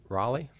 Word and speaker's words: Raleigh: Our second and final speaker is Tracy Raleigh. Well, she says it rhymes with Molly.